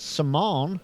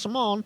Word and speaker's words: Simon: That's Simone, spelt like Simon, but pronounced Simone, in Cameron Park.